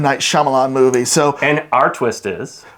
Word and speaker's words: Shyamalan: How do you pronounce his name? I always get it wrong. Shyamalan.